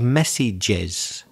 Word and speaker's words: messages: That's a very common error of pronunciation. It should be a couple of messages. You often find that words which end in certain sounds such as j, Spanish speakers and some other speakers forget that the plural needs an extra syllable.